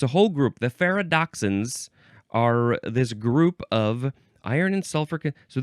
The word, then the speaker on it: ferredoxin: It is ferredoxin. Ferredoxin. Ferredoxin, here I am. I don't know, that's what my brain went to. It is spelled Ferredoxin. It's, like Frere Jacques. Ferredoxin, Frere.